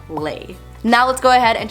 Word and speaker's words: Le: and by the way that is how you pronounce my last name lay now let's go ahead